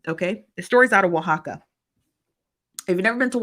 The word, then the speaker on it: Oaxaca: fantastic okay but yeah make your way to Oaxaca okay and that's how you pronounce it said um the t-e-p-jf determined that